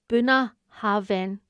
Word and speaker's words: Bunnahabhain: And then we went to Bunnahabhain, pronounced approximately Bunnahabhain, on the very northeastern tip of the island.